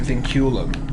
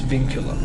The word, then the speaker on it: Vinculum: I pronounced it vinculum, but it's vinculum.